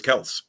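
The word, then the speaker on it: Kelce: know i mean travis kelsey wants to because apparently it's supposed to be travis kels i heard now oh yeah okay and that's from him he actually said that so okay i'm never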